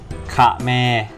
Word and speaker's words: เขมร: กับ วัน ที่ 3 ค่ะ แม่ ก็ อ่าน ว่า ค่ะ แม่ ขะ แมร์ อ่าน ว่า ค่ะ แม่